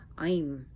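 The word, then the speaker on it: Aim: Her Bija mantra, well, is I'm. It's usually written A-I-M or E-I-M, but it's I'm. I'm is knowledge, I'm is wisdom, I'm is Sarasvati. It is a Sanskrit letter, I'm.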